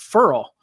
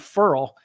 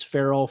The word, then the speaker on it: Ferrell: that we discovered that he pronounces it Furl, Cleveland, Furl. And so, I don't care how you say it, if it's Ferrell, Furl, whatever.